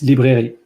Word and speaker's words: librairie: It's librairie.